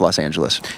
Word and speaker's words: Los Angeles: Which is properly pronounced Los Angeles.